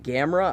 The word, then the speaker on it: Gamera: said to name him Gamera I think it's I pronounced ACCA's he said that it's pronounced like camera and you know he